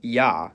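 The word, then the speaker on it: Я: It's called yah. And as its name suggests, in most cases, it sounds like yah. However, when it comes after a soft consonant, which is a consonant pronounced with a tongue close to or touching the roof of the mouth, the y is dropped and it's pronounced as a.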